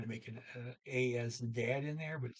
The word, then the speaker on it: de: The plural for den and day. D. But regardless of what it means in a particular sentence, it's always pronounced D. D-E-E, like D.